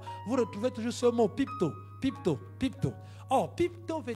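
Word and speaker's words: πίπτω: conjuguant le verbe c'est pipto P i p t o et la prononciation c'est pipe et pu to to à côté donc ça donne pipto pipto c'est ce prosterner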